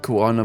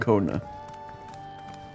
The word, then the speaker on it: Kona: Why does everyone pronounce it Kana, but then she pronounces it Kona?